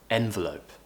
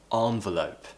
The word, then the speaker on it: envelope: var var VARs and please make sure you pronounce this word correctly envelope envelope I have heard a few people say envelope envelope now the nice sound at the end